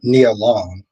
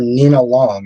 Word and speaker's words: Nia Long: I remember you did actually help me pronounce uh Nia Long, and I kept I kept calling her Nenina for some odd reason. I kept calling her Nina Long and I'm like, "And